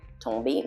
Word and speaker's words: tomber: So the T is always pronounced when it's in the beginning of a word. Par exemple, for example, the verb tomber. Tomber means to fall. Tomber. Okay, so you hear that T sound.